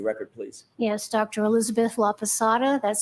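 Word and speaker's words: Laposata: Elizabeth Laada. That's spelled L A P O S A T A.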